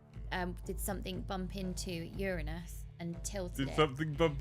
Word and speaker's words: Uranus: recently found out the we all say it wrong we say Uranus but it's Uranus yeah but Uranus is funnier